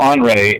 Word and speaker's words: Henri: Kind of slippery, but I guess Henri is the proper way to say his name in French. Oh, okay. I would think of Henry, but Bleicher, Hugo Bleicher